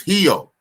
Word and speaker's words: Rio: Because the R is always pronounced with the H. Right. That's crazy. Like Rio is Hio.